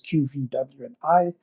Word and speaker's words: QVWI: It's spelled with the letters QVWI, but it's pronounced QV.